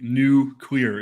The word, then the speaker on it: nuclear: how he pronounced nuclear i think nuclear like new clear is the proper way of saying it uh i don't have